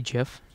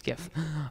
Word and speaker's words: GIF: we oh no it it's GIF it's GIF um like you know the peanut butter like GIF that's a j that's spelled with a J yeah GIF is spelled with a G okay well moving on